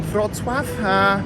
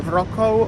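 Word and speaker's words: Wrocław: told me as the many of you guys have a problem since pronouncing fraud swap because you call it like a Rocco or Rocca or something like that it's called but don't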